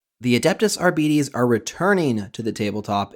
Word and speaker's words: Arbites: Well, first off, it is pronounced Arbites. Actually, Warhammer put out a video recently. It is not Arbites, Arbites, it is Arbites.